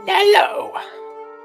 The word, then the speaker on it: Nello: His name's Nello. Yep, rhymes with yellow.